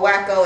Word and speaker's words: Waco: It's either Waco or Waco.